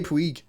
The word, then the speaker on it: Puig: How do you pronounce his surname? Puig. It can't be that, can it? It's not Puig. It can't, basically, right? Puig. It's Ricky Puig.